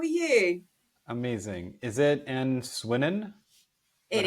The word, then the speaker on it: Swinnen: Is it An Swinnen? Is It that how we is, pronounce it? yes. Swinnen.